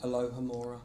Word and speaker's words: Alohomora: And obviously I'm going to not even, how do you pronounce that? Alohomora.